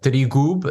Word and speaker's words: Trigub: And so Trigub is the proper pronunciation. And so Trigub.